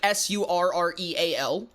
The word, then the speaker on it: Surreal: Uh, it's it's it's pronounced like s u r r e a l. Like surreal. Like having a surreal experience.